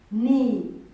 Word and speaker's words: knee: We have a word like knee. A word like knee. This is the word like but this k is silent. This one is silent. We read this word as knee.